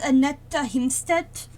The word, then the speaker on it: Annette Himstedt: The German pronunciation is Annette Himstedt. But I just screw up the pronunciation because I'm not native.